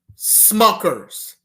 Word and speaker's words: Smucker's: Smuckers. Rhymes with suckers, doesn't it? And that F word that rhymes with Smuckers.